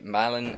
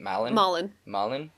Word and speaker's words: Malin: One day, after attending his ex-fiancée's wedding, he stumbles into this lovely young lady named Lila, played by Malin Ackerman. That's how you pronounce her name, right? Malin?